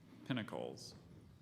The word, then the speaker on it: Pinnacles: in the Coast Range South southeast of Hollister Pinnacles is there any other pronunciation there is just the one Pinnacles Pinnacles